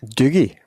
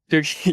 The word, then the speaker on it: Doogie: well, Douglas, or Dad, the Scottish pronunciation of the nickname of Douglas. Doogie. Doogie, you do a good Scottish accent.